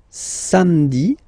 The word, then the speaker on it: samedi: Then samedi, samedi, don't insist on the e, samedi, samedi, alright?